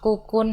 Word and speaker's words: Kokoon: Kokun. Bacanya bener apa sih sebenarnya? Jadi yang benar itu Kukun Hotel Banyuwangi.